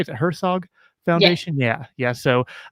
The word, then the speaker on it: Herzog: Am I pronouncing that right? Is it Herzog Yes, Foundation?